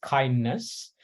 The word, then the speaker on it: KINDNS: going to be on a tool called kindness uh we'll pronounce it as kindness so this is kind